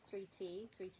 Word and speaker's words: Thrity: I write it as a 3 and a T because that's how it's pronounced and spelled, like the word 30 with the I and the R the other way around.